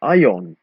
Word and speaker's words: aion: However, we don't always change the I into J, even if it sounds like that. If we want to say, I intend to do something, it becomes aion, but the I is still an I.